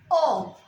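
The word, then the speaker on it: aux: Write a R I U X O. The pronunciation is O. The last consonant X is not pronounced.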